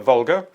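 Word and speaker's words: Volga: The Vulgar carries barges loaded with lumber, grain, and scrap metal. The river name is the Vular.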